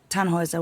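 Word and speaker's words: Tannhäuser: We'd pronounce it Tannhauser with an umlaut.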